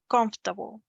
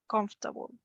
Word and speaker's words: comfortable: Someone once told me the correct pronunciation is like in 2 syllables. So comfortable, comfortable.